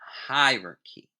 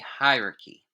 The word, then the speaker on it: hierarchy: of the California judicial System structure structure and hierarchy Again pronunciation High ry we pronounce it Fast and we say hierarchy hierarchy of the courts in California key differences